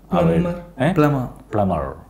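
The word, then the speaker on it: plumber: തെറ്റാണ്. പ്ലംബർ എന്നൊരു ഉച്ചാരണം ഇംഗ്ലീഷിലില്ല. എല്ലാവരും പറയുന്ന സംഭവമാണ് പ്ലംബർ എന്ന്. പ്ലംബർ അല്ല, actually it's called B silent ആണ്. ബി ഇല്ലെങ്കിൽ നമ്മൾ എന്താ വായിക്കുക? പ്ലമർ. That's A correct thing, പ്ലമർ.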